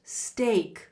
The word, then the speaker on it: steak: I don't mean to be difficult but my steak is undercooked and pronunciation wise steak is pronounced steak like stay steak it's a common